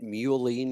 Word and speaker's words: mullein: My daughter told me about melon root for helping clear out your lungs. Is that any? You think that's worth taking? You mean mullein root? Mullein. Okay, that's however you pronounce it.